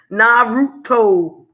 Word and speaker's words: Naruto: Because you ain't pronouncing the oo. You calling it root instead of like oo.